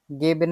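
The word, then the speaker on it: geben: আমরা উচ্চারণ করে দেখি তো এটা ইশাক ভাইয়া গেবেন এর উচ্চারণটা করেন তো গেবেন গেবেন ঠিক আছে এটা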